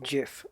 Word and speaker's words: GIF: it'll trigger everyone's yeah it it's pronounced jiff like 100% because the guy who invented the graphics format for that said so he came out on